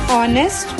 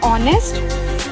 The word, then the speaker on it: honest: For example, an honest man. How we are pronouncing honest? Are we pronouncing this H? No. Why? Because this H is silent here.